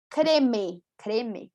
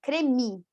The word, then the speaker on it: creme: Percebam que eu não digo creme, não, cremi, né? Um i, cremi.